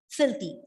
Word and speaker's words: filthy: fourteenth word is filthy filthy again an adjective with two syllables stresses on the first syllable filthy filthy means dirty